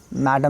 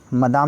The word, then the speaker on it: Madame: देखिए मदाम ही बोलते हैं फ्रेंच में, मैडम नहीं बोलते। स्पेलिंग भी देखिए MADAME है।